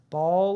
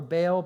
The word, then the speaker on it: Baal: Therefore, they named that place Baal or Baal Perazim. You can pronounce both. I'm going to say Baal there.